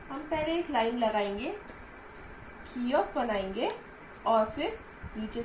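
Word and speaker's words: 기역: कियोक को हम क या ग की तरह प्रोनाउंस करेंगे। नियन को हम न की तरह प्रोनाउंस करेंगे और दिग्गत को द की तरह।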